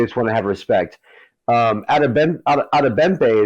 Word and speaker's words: Adebimpe: Adebempe is what it sounded like when I heard the pronunciation.